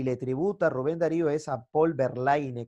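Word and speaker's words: Verlaine: tributa rubén darío es volver line que se pronuncia volverle a un simbolista francés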